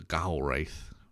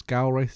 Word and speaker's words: Gaurwaith: he met up with the Gaul wraith or the gowl I think that's gal race is how you say it which are the